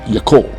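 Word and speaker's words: יָכוֹל: One is yachol, pronounced yakol, meaning to be able.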